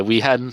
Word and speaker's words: Miifin: Miifin. We were Miifin? Okay. Yeah, short I. The double I was a typo, and it just stuck.